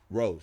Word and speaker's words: RXSE: And is that actually how you pronounce it? Rose, yes.